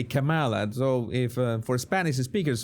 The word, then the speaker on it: Kamala: the problem is that Pamela would say Pamela in Spanish. So if we say Pamela, then we say Kamala.